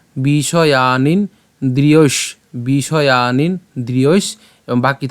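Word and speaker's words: বিষয়ান্: এরপর বিষয়ানিন আমরা কি করলাম?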